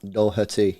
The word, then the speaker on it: Doherty: please confirm how you say his name Matt Doherty yes yes Sean I knew you'd come through